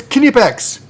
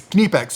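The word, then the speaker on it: Knipex: It's Kipex. The K is pronounced. It's not a hard K. It's not like King like me. It's Kipex.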